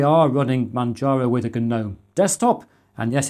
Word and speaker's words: GNOME: running Manjaro with a GNOME desktop. And yes, it's pronounced GNOME when you're referring to a desktop environment rather than the creatures some people keep in their gardens.